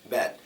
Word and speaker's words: bad: and this isn't stressed bad now when I say bad my mouth is open bad it's like you're screaming it I don't like